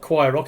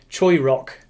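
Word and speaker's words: Choirock: Well, no, it's not Choir Rock, is it? It's Choi Rock.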